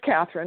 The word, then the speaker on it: Catherine: it out for everybody okay my name is Katherine which is spelled with a c c a t h